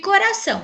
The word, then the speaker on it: coração: Como podemos ver, a sílaba são é a sílaba tônica da palavra, pois ela foi pronunciada de maneira mais forte.